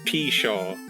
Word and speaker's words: pshaw: Yeah, to to pshaw.